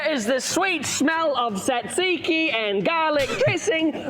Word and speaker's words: tzatziki: It's tzatziki. It's tzatziki, by the way. I'm pretty sure it's tzatziki.